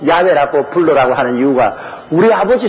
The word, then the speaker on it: 야훼: 이러니 여러분 아버지 이름도 하나 좀 듣기 발음 못하는. 그래서 제가 여호와라고 이름을 적어도 꼭 야훼라고 불러라고 하는 이유가 우리 아버지 성함의 정확한 발음은 야훼입니다.